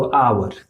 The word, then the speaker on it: hour: इसको बहुत सारे लोग हैं जो लोग हावर पढ़ते हैं। क्या पढ़ते हैं, हावर। लेकिन ये हावर नहीं लिखा है। इसका करेक्ट प्रोनाउंसिएशन क्या होगा, तो आवर। आवर हम लोग पढ़ते हैं।